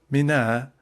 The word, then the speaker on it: Mina: Footnote Mina that I is pronounced very short is a suburb of Mecca and a footnote.